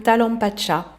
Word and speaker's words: Talampaya: notamment l'inénarable Talampacha. Alors ça s'écrit Talampaya et c'est en Argentine. On va en voir quelques images. Ce sera vraiment pas inintéressant d'autres points de vue parc national Talampacha.